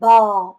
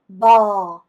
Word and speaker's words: bò: "bo" 가 아니라 " bò" 입니다 . "Bé", "bò" 라고 발음 하는 것 이 맞습니다 . 이렇게 해야 합니다 . 이해 했다 ? 한국식 으로 하지 마세요 .